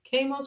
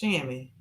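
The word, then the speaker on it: chamois: Lord, that part Mindy Kos cream pronounced shammy. Oh, shammy. I call it ko.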